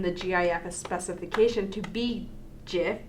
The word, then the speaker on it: GIF: GIF specification to be GIF, as in Jiffy, because it's a snap, quick thing. So Jiffy and a Jiffy, GIF. Oh, that's cute. So, I like that. The Oxford English Dictionary accepts both pronunciations.